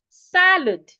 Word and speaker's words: salad: Salad, not salad.